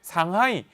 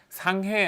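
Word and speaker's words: 上海: 편리 하 아 중국의 상하이 상해 라고도 하죠 한껏 한자어 그대로 말하면 상해 고 중국 c 발음으로 3항이 줘 여기에 대한민국 임시정부가 출범하게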